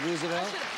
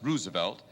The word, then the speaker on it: Roosevelt: explain why you said Roosevelt the Oyster Bay uh side of the family always pronounced Roosevelt and uh the upper New York State Side pronounced it Roosevelt FDR was Roosevelt Teddy was ruse that's right well all